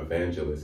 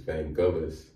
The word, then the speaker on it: Vangelis: people said it's not it's not evangelists it's van gaalis i believe so thankless